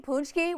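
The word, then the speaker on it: pączki: what are you saying punchki with an n and I'm like yeah that's how it's pronounced I don't know I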